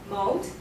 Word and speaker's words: mode: And other pronunciation problem like the Southern Ocean mode, not model, okay, mode.